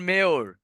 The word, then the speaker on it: mayor: আপনি ধরেন এই যেমন হচ্ছে ধরেন মেয়র, MAYOR, এই মেয়র কথাটা কেমব্রিজ 11 বইয়ে আছে। ওরা এই মেয়র কথাটাকে উচ্চারণ করে মেয়া, ঠিক আছে?